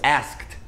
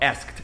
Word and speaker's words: asked: Passado de perguntar, que é ask, fica asked. Olha só, asked, não é asked. Asked não existe, é asked. Esse E, ele é mudo.